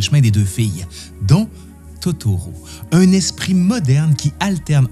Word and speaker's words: Totoro: avoir vu un troll en japonais troll se dit totoru elle prononce Totoro par erreur d'où le nom qui